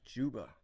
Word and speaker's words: Zuba: So I learned it's actually pronounced Juba.